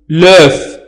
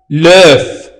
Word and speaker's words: œuf: ولكن عندما يكون الاسم ديز مفرد نقول, إذا حذفنا اس نقول لوف, أي بيضة واحدة لوف, ننطق اف.